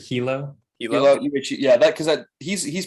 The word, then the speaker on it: Hilo: UH, is it Hilo or Ilo? Like, how is it pronounced? I've heard it Hilo.